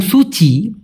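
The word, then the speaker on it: cuci: একটা তো চুচি বললাম সি ইউ আই চুচি যেহেতু সিটাকে চ এর মত উচ্চারণ করে এজন্য হবে চুচি আরেকটা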